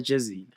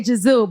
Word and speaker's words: Jezile: I say Jezile, but if we want to go back to SA, Jezile.